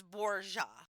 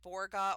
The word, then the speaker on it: Borja: he was from and it's it's Borja. Okay. That's That's why I'm saying it like that. A lot of people would probably say Borga or Borgia, depending on if you say it like Italian, but I'm saying it like the Spanish way I looked up.